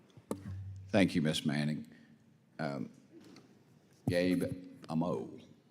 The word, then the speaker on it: Amo: Gabe Amo. How do you say your last name, Gabe? Amo. Amo. Yes. All right, brother, I got it. All right. Amo.